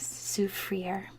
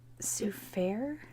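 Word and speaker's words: Soufrière: look so the town i speak french so i would say this as souffrier but um they don't pronounce it like that because when the british took over they um just mispronounce everything so i think it's so fair i believe it's a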